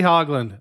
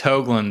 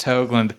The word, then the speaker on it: Hoagland: Toronto excellent and hogland how are you doing hey I'm going good man it's Hoagland though I'm just gonna be straight it's pronounced hogland did I just do